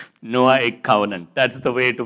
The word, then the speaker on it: Noahic: The way to do it is say Noah, Noahic. Noahic covenant.